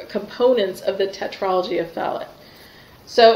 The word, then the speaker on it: Fallot: of the tetralogy of Fallot so it's probably pronounced fellow because I think it was a French cardiologist who originally characterized it but I hear people say it both ways so this is the